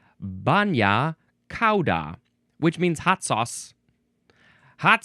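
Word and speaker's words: bagna cauda: Ah it is pronounced banya ca which means hot sauce.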